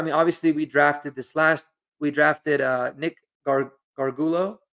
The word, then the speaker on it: Gargiulo: I mean, obviously we drafted Nick Gargulo. I hope I say that right, or Gargiulo, I think is how you actually pronounce it.